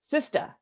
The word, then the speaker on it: CSTA: my female colleagues that you could actually pronounce this csta as sista but guys can use